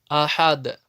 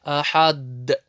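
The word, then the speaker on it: أحد: Ахад. В суре Аль-Ихляс. Куль хуаллаху ахад. Средняя коль-каля. Не превращай ее в сильную ахад. Это ошибка.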